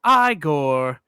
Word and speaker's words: Igor: um the hunchback bugeyed uh guy named uh Igor whose grandfather used to work for Victor. But because Victor, sorry, because Frederick is pronouncing his name Frankenstein, he says it's pronounced Igore.